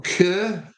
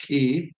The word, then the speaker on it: Keir: Dan Keir, or Kerr, however you want to, it's spelled Keir, Keir, Keir.